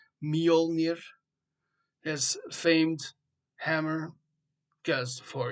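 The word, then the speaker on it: Mjölnir: And for using his hammer called Molir, I'll say it right for everyone that doesn't say it right. Molir, his famed hammer because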